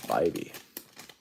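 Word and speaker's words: Bibee: Harris Jazz Tanner BBY can't believe that's pronounced BBY sounds so awkward but it's not my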